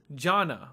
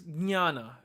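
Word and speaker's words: jñāna: Of course, if you were to read that, you'd probably read it as jana or jajana. However, it's actually pronounced as jnana because the uppercase J gives like a palate swipe, almost like a nya sound, as in canyon.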